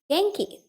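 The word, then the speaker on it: 元気: It's Genki. Yeah, the textbook, right? Now, ki again remains the same. I said the pronunciation is not going to change most of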